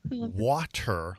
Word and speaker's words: water: He pronounces the word water like a champ. The word is clearly spelled W-A-T-E-R, not W-A-D-E-R, so it's nice to hear someone treat the English language with a little dignity.